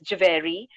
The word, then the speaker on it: Javeri: pronounce my last name it's javeri so it's jave simpler than it actually looks um you say it like it's it like it like you see it so how i